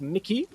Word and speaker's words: MXKX: I'm told it's pronounced Mickey. MXKX.